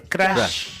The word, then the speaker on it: Crush: Yo siempre le dije Crush, ¿no? Vieron que se pronuncia Crash, pero es Crush.